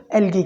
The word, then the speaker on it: algae: Actually अगर हम इसको ब्रिटिश एक्सेंट के अंदर प्रोनाउंस करें तो हम इसको algae प्रोनाउंस करते हैं, और अगर हम इसको अमेरिकन एक्सेंट के अंदर प्रोनाउंस करें तो हम इसको एलजी प्रोनाउंस करते हैं.